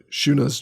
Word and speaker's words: Shuna: Shuna's Journey. Like Alex is like, how do I pronounce this?